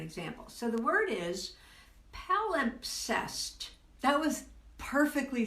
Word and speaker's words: palimpsest: Okay, the MP is hard to pronounce. Yes, it is. Palimpsest. MPS. Yeah, all at once. Those three consonants, rare but hard to.